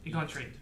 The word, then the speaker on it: Elgontry: I'm going to relay this to Elgontry. Is that right? Am I saying it right? Egantry? Yeah. Elgontry. Elgontry. Yes.